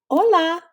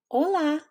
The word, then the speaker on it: Hola: Hola. Hola. Remember, an h is silent in Spanish.